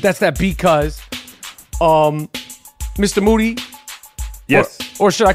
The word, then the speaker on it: Moody: beat crafted by G Moody last name rhymes with duty these three times broadcast